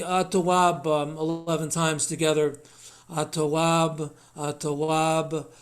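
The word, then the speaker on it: التواب: The word tawab has in front of it AT instead of AL. This is the nature of Arabic grammar, that some words the L gets absorbed and eclipsed into the next letter. So it's at-tawab is how you say it.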